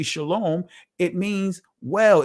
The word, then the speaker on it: shalom: Shalawam in the Israeli language many was uh is pronounced shalom.